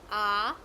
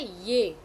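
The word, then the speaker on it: ऐ: And some people say it is not a ye. Some people pronounce it ye. It is not a ye. It is a I.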